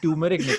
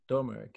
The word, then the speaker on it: turmeric: I see torn eunuch turmeric turmeric yeah do you are yeah yeah it's not silent yeah so you say